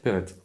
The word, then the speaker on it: Perret: Perrette. Ouais, c'est un petit village. De TE ? Non, P-E-R-E-T. D'accord, on prononce Perrette.